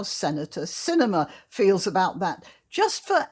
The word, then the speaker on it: Sinema: hasn't heard of that her name is spelt with an s at the front not a c uh you know around here we call movies the cinema anyway senator cinema she's